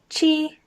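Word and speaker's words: 七: going down liu liu the number seven is pronounced chi and again it's first tone flat chi number eight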